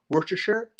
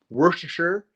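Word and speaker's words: Worcestershire: people's pronunciation of things but work sure typically you don't promise the shirt at the end of it was like worker sauce maybe maybe not that's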